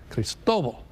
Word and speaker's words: Cristobal: By the way, the official National Hurricane Center pronunciation guide, just so you're trying to figure this out, Cristobal is the official pronunciation.